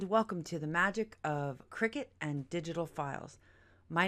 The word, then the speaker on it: Cricut: a Cricut or as some people pronounce it cry cut I pronounce it Cricut cricet is a gamechanging cutting machine that's revolutionized